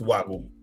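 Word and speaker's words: Wagyu: y w y w y wu but it's pronounced wagu, right?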